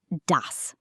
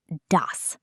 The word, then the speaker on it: das: It's dos. Say it. Das sounds like das.